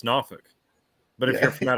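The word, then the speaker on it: Norfolk: of like here in New Hampshire Concord they pronounce it conc oh yeah it's like if you were born here it's nauk but if you're from out of town it's norfol yep we kept that English pronunciation for some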